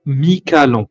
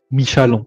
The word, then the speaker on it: Michalon: C'est édition Mi-Calon. Voilà, Mi-Calon. Michalon, ça dépend comment on le prononce.